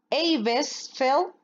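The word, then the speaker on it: Eibesfeldt: Eibesfeld, bueno, más o menos, ¿vale? Seguro que no es así la pronunciación original, pero bueno, así está escrito.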